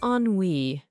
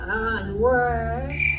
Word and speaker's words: ennui: It's Ennui. It's what you would call the boredom. Well, come on up here. Ennui.